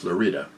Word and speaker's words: Florida: by the way a spell like florida but pronounced florida the florida mesa from bayfield to the florida